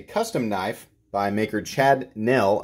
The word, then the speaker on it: Nell: knife by maker Chad Nell I've been I think pronouncing him pronouncing his name Chad Neil this is the mb1